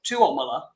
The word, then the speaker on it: Tuomola: So in Finland, they stress the second syllable. So it's Tuomola, and I don't even say it right all the time.